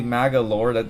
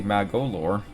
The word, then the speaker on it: Magolor: Let's not say Magalore. That would be terrible. Let's say Magolor.